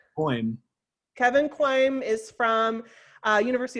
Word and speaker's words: Kouame: you know, like Kevin. I don't know if, am I pronouncing your name right, Kevin? How do you? No, that's not right. Tell me how to say it right. Quoim.